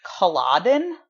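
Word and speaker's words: Culloden: Battle of qalaat Rory tell me if I'm pronouncing this correctly calab n' that's right yeah yes okay I wasn't sure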